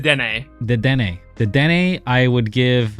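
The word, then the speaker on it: Dedenne: Oh my god, you've said it wrong, and now all I can picture in my head is saying it wrong. It's the Dene.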